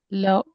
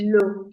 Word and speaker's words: l'eau: Loud. L'homme will be pronounced as l'homme, which is the man.